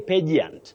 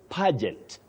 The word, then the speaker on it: pageant: Titus Bravo of Nakuru you say page the page on that page but don't say pagant or pigant you say pageant pageant and pageantry then we